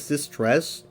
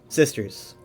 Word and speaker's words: Sisters: That's how I used to say it. And then they even mispronounce it a few times in, like, the reveal, but in the game, officially in the lore, it is pronounced sisters. Because I noticed that Lehman always spelled it sisters. He spelled it right. Or he pronounced it correctly.